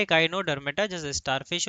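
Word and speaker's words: Echinodermata: लल्ला हम the biological term इकाइनोडर्मेटोडर्मेट ठीक है इकाइनोडर्मेटा इकाइनोडर्मेटा का मतलब होता है ऐसे ऑर्गेनिज्म जिनमें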